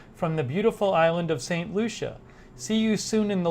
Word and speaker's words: St. Lucia: Did I pronounce it right? St. Lucia.